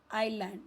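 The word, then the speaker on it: island: आइलैंड यहां पे S silent है।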